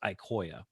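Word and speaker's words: IQOYA: in a second so these solutions are pronounced ikoya crosslink or ikoya servlink and here's sort of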